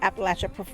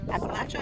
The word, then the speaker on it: Appalachia: Different parts of the Appalachia pronounce it differently. Appalachia and Appalachia, depending on if you're the southern or northern dialect.